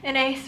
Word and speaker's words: Inais: get annoying like yeah an ace rhymes with face an ace rhymes with